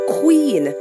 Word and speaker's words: queen: Queen. Q-U-E-E-N. Now, you do not pronounce that U. The U is silent.